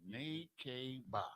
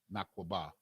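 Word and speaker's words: נקבה: Nekeba. Okay. They say Nekeba. We say Nakwaba. That's what the Lashawan Qadash says. Nakwaba.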